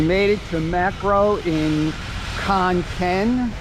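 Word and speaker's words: Khon Kaen: it to macro in Khan Ken Khan gen I think is the proper pronunciation this is a full-size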